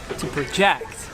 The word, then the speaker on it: project: onto that yellow wall you notice the difference in the noun you put it in the first syllable but if when it's working as a verb you put it in your second season and then in that case your pitch goes higher in the technical or in the first one depending here are some